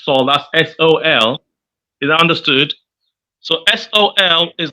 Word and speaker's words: sol: called Saul saw the floor it's so that's s-o-l is understood So Sol is the hard flaw